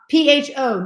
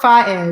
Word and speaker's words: pho: P-H-O. Not pronounced pho. Pronounced pho.